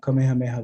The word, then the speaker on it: Kamehameha: up of five morphemes the first one is a diphthong the second one i gotta move my uh let's see is a single vowel on a single syllable the next one these two morphemes combine to create three vowels across two syllables and the last one of course the last morpheme is two syllables and a vcv structure we'll probably come back